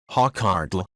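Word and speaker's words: hákarl: edible sumit 316 said hockerel icelandic pronunciation hawkhartle an abbreviation of castor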